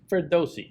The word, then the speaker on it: Ferdowsi: This new guy came in, Ferdowsi. Again, pronunciation, Ferdowsi, good? Ferdowsi. A little bit more spin on that middle syllable there.